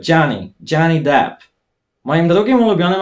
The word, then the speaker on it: Johnny: Jak chcecie poprawnie też mówić jego imię w taki sposób amerykański, to tak zmiękczcie to polskie G. Mówcie Johnny, nie Johnny, tylko Johnny.